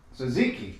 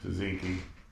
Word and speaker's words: tzatziki: Tzatziki. Tzatziki.